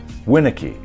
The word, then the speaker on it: Winnicky: Now take my name for example. Phonetically, it should be spelled capital WIN dash lowercase UH dash KEE. It tells you to emphasize the first syllable, Winnicky.